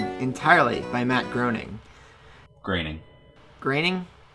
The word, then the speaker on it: Groening: Groening? Graining. I've never heard his name actually pronounced.